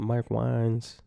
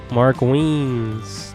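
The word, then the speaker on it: Mark Wiens: that's his name I said his I said Mark wiin I don't know never heard his name being pronounced that look like Kebab meat kind of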